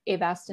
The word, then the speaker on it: Avastin: your talk started, but they had been given Avastin. Am I saying it right? Avastin?